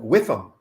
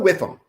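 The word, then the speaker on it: WIIFM: And there's an acronym, WIFM, W-I-I-F-M, W-I-I-F-M, and I always pronounce it WIFM. What's the WIFM?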